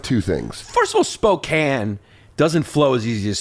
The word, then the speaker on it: Spokane: Eastern Washington yeah and they hate when you call it Spokane by the way it's